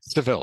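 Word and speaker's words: Seville: in the sou okay civil civil it is pronounced civil okay civil is a province in Spain okay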